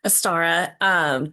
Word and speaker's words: Ostara: It's it's Astara, or Ostara, Aster.